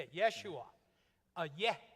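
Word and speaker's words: ישוע: Yeshua. A yeh sound, a Y. Jerusalem is not Jerusalem, Rodney pronounced?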